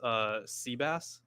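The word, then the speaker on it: Seebass: And then further, it looks like so this guy's name is Seabass, but it's spelled S-E-E.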